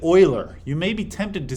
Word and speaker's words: Euler: be tempted to say Euler you will find you sound foolish if you say Euler don't say Euler say Euler it's a German name and in German you say when it's EU Euler all right this um